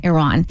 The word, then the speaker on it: Iran: And we wanted to shed a light on what's going on in, do you pronounce it Iran or Iran? Iran.